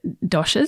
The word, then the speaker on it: doshas: So the fundamentals, I suppose, of this is the doshas. That's how you pronounce it, is it?